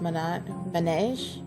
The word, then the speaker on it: Manège: for me son uh Minaj is pronounced man man it means Carousel are riding a school in French oh okay hey pancake